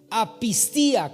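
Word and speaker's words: ἀπιστία: palabra poca fe es la palabra apista apista con acento en la i Y esa palabra apista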